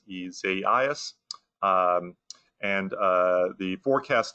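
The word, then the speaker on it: Isaias: in the alphabet and the pronunciation on the ice storm uh this year if i can get it right is isaiah's um and uh the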